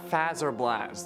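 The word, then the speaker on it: Fazer Blast: at bonnie bowl others suggested a battle at faz or blast there are you happy i said it right for once but i like seeing phaser okay so leave me alone which does kind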